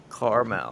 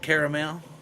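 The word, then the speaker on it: Carmel: say caramel caramel caramel it's spelled c a r m e l caramel not caramel oh here's here's one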